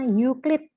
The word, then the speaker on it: Euclid: Bacanya Euclid.